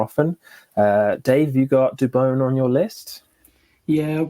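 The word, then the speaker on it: Dubón: um i've got maurizio dubone i believe the commentators in in san francisco are now finalizing that that is how you pronounce his surname dubon but yeah i've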